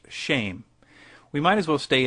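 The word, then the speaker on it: שם: Hebrew word for name which is shim pronounced shame we might as well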